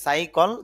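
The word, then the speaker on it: cycle: সাইকল ইংলিশে উচ্চারণ করব সাইকল।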